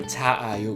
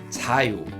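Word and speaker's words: 자요: In this case, we don't pronounce a twice. We don't say 자아요. We don't repeat the same vowel. Instead, we combined two same vowels, so they will be one vowel. So we read it 자유.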